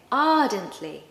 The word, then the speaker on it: ardently: Now, I've told you before that we don't pronounce the R, especially if it comes in the middle of the word or at the end.